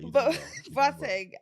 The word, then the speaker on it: Boateng: Boat- Boateng is like Boateng. No, you know, in the Ghanaian way is Boateng, but it's fine. It's all right. Boateng, and he's literally a legend.